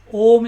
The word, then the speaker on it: Om: Om is a 3-syllable word, A, U and Ma.